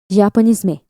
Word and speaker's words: Japonisme: This term was created in France, pronounced Japonisme.